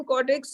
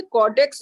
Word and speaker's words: caudex: Adenium कॉर्टेक्स इज, बेटा ये स्वाति जी, ये कॉर्टेक्स नहीं होता, कॉर्डेक्स होता है, CAUDEX, कॉर्डेक्स है ना।